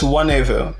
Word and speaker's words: Nwanevu: The only difference is the N is silent. It's Nwanevu, but you're much closer than many people get.